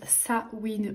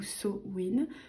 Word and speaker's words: Samhain: Ensuite, nous avons le petit livret Histoire de Samhain. Donc, Samhain, qui se prononce Sa-win ou So-win, se fête le 31 octobre, dans l'hémisphère nord.